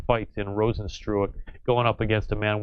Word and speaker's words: Rozenstruik: But for how do you pronounce the surname? It's Jair Zinho Rozenstruik.